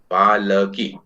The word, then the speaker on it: पालकी: लेकिन उच्चारण में हम इसको पालकी बोलते हैं। ल हमेशा आधा ही बोला जाता है, ल पूरा नहीं बोला जाता है।